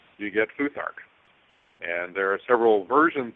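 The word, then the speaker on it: Futhark: Um actually they it's pronounced foothark and it what it's derived from is the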